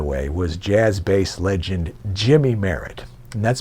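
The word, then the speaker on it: Jymie: dad by the way was jazz bass legend jimmy merritt and that's spelled j-y-m-i-e jimmy merritt who played with art blakey and the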